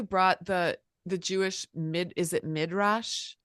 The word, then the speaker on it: midrash: I love how you brought the Jewish is it midrash?